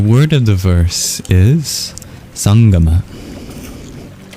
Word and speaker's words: sangama: The word of the verse is sangama. It's spelled in a few different ways due to a phone that doesn't quite exist in English.